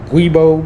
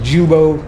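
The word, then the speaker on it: giubo: transmission together on the they call it a weibo but it's actually pronounced jubo uh g uh g-i-u-d-o um but we can call it guibo whatever but i did get that out so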